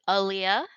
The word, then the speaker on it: Aaliyah: aware please introduce yourself my name is Aaliyah that's how you pronounce it I know a lot of people get it wrong I am a wolf